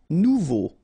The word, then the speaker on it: nouveau: Nouveau. Remember, combination of A and U together, it's O. So you get nouveau. Okay?